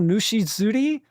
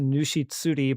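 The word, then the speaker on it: ぬし釣り: Tsuri. Okay, it doesn't become Zuri. I guess it's just Nushitsuri, but River King is what they're usually translated as.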